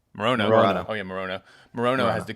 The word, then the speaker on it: Morono: Morono.